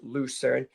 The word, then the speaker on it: Lucerne: So as I say it, because that's how it's pronounced, Lucerne, there's a lot of books that have it written this way.